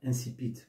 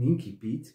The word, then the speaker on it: incipit: C'est un mot d'origine latine qui peut être prononcé de deux manières, incipit ou incipit, qui veut dire le commencement d'un roman, d'une nouvelle ou d'un conte.